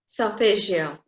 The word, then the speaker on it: Solfeggio: Solfeggio. Solfeggio. It's right. kind of an Italian pronunciation.